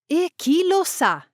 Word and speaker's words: E chi lo sa: especially L or R, the consonant is pronounced more strongly, almost as if it's doubled. Take a look at this example. E chi lo sa? E chi lo sa? Who knows? E chi lo sounds like equilo.